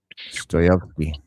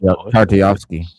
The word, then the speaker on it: Tartakovsky: The Russian name, I can't pronounce it. Stoyevsky. Yeah, it should be dope though if he's doing it. Tartakovsky.